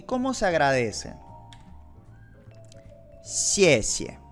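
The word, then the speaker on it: 谢谢: Acuérdense cómo se pronunciaba la X. Tienes que tener una sonrisa en la boca. Xiexie. Gracias. Y ahí yo lo pongo con ese como que xiexie. No es 100% xiexie. No es así.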